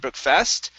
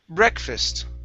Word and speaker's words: breakfast: up is breakfast okay the stress is at the beginning instead of breakfast it's breakfast breakfast okay good good and